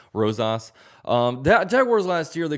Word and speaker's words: Rosas: I think that's how you say his name, Rosas.